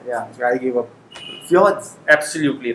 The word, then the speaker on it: fjords: Fjords. Absolutely right. Very Fjords. nice. Very Fjords. nice. Fjords. Fjords. So J is pronounced as ya.